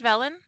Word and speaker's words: Velan: for being here this afternoon, and welcome to today's presentation featuring Velan Studios. And I should have checked. I'm so sorry. Is it pronounced Velan? Okay, Velan. Perfect. You got it.